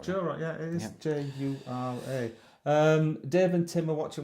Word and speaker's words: Jura: I think I'm saying it right, Jura. Jura, yeah, it is Jura.